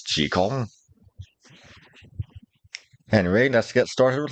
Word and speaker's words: Jekyll: It's not Robert Louis Stevenson, damn it, any more than that doctor's name is pronounced Jekyll, and everyone knows it's Jekyll.